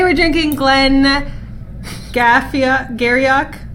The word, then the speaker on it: Garioch: drinking Glen met cassia Garioch Glenn Garioch I should pronounce again Giri very QE I looked this up knowing this was gonna happen yeah well I know Glen Giri look like Garioch so so while she